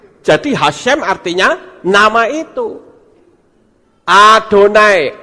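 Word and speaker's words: אדוני: Adonai, Alef, Dalet, Nun, Yod, Adonai.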